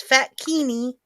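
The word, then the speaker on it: fatkini: fat kidney which is spelled like bikini only with fat it's fat kini so f-a-t-k-i-n-i yep they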